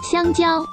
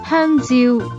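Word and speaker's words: 香蕉: ¡Xiangjiao! Mientras que una persona que hable cantonés la pronunciaría de esta otra manera. ¡Hanziu!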